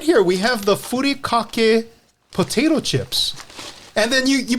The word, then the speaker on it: Furikake: It's Furikake. Furikake.